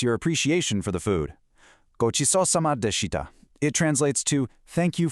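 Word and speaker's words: ごちそうさまでした: Gochisousama deshita. It translates to thank you for the meal. When you pronounce it, make sure you hit that specific ch sound, kind of like the ch in cheese.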